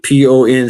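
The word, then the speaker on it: Ponce: What they did is they turned the USS Pon or P O N C uh the pronounced Pon.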